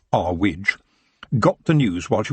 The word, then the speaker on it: Earwig: of her Manor housee Mrs earwig pronounced R WID got the news while